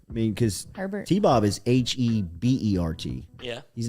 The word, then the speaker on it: Hebert: mean because herbert is h-e-b-e-r-t yeah he's not like i mean justin herbert is h-e-r b-e-r-t so i mean really from a pronunciation standpoint it should be a bear i mean you look